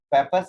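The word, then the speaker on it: Pappus: पेपर्स का spelling है PAPPU, Indian language में उसको पप्पू प्रोनाउंस करेंगे।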